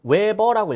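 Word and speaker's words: 웨버: 자, 어찌됐든 요거 읽을 때는 외버라고 읽어요.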